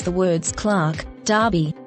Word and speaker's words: Derby: police station Corner Sergeant note the pronunciation Sergeant you have the same vowel sound in Clark Clark Derby Derby Berkshire Berkshire pretend and pretense role noun